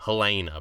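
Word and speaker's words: Haelena: this episode um which sounds like a normal name Helena but it's uh it is spelled with the weird Targaryen AE at the front it's h-a-e-l-e-n-a I like that um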